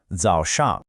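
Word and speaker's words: 早上: the day is called Zho Shang. Okay, so here it is. pronounced. Let's really try to get the tones right on this one. The first syllable has that dipping and rising third tone.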